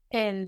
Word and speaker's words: elle: So we saw how with elle, we have this E without an accent, which we're used to sounding like je, de, but taking on a different sound when it combines as a syllable with the letter L, and we get L, E-L-L-E.